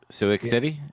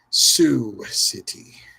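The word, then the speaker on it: Sioux City: Sick city. Is that how you say it? Sue City.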